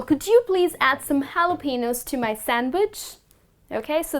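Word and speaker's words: jalapeño: you are mispronouncing it it is not jalapenos well the correct way to pronounce this word is jalapenos so which means the letter j you're not gonna pronounce it in fact it's gonna turn it to the letter h okay so it's gonna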